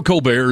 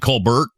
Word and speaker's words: Colbert: Co bear is great do you know Co bear is not how he pronounced that's not actually how his last name is pronounced is it Colbert yeah it's Colbert buty